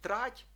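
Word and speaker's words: trať: як у випадку зди маємо пом'якшений ті теж у слові трать так означає колія або якась лінія Так це слово багатозначне і бачимо що ти м'яке трать так і слово щесті де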